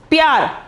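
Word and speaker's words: प्यार: This is called ip, ya, ra. Pyar. Not is p. Ip. We have to pronounce it as ip.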